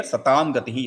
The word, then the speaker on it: सतां गतिः: If you are going to join it, it will become satāṃ gatiḥ, right? Okay, so now here satāṃ gatiḥ is how we are going to pronounce.